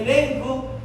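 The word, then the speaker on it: ἐλέγχω: viene del Gen 1651 el griego que se pronuncia o se escribe elenco no sé si usted puede ver desde allá pero se dice elenco que significa convencer reprender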